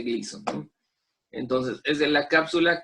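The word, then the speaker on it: Glisson: cápsula de crisis son se escribe así con la razón pero se pronuncia cápsula de gleason entonces es de la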